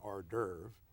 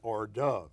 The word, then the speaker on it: hors d'oeuvre: mispronounce things like that rather than saying hors d'oeuvre he'd say or Dove and then he'd watch